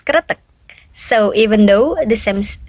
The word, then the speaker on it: kretek: So for the traditional therapy, the pronunciation is kretek.